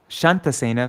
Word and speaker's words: Shantasena: Shantasena, from whom Shatasena was born. Only difference in their name is one has a long A and an N.